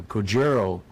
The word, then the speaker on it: Kojiro: Yeah, Kojiro, as they pronounce it, was on the photo leg magazine.